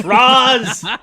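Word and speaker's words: Ra's al Ghul: i will kill you it's racial you it's rozz it's the wing dragon of raws i hate that but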